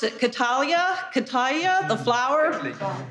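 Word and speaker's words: cattleya: Another of you doing a, I can't pronounce it, Catalia, the flower. How do you say it? Catalia.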